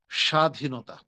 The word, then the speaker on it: স্বাধীনতা: সেটা হচ্ছে স্বাধীনতা। স্বাধীনতা। সেটা কি? স্বাধীনতা। স্বাধীনতা। স্বাধীন স্বাধীন স্বাধীন দিলে দিতেও পারে না দিলেও পারে কিন্তু স্বাধীনতার ক্ষেত্রে একটু চাপ দেওয়াটা উচিত তাহলে আমরা কি জানলাম